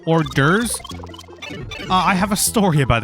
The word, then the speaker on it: hors d'oeuvres: class, ELA class, and he pronounced that phrase hors d'oeuvres as hours devours, and I will never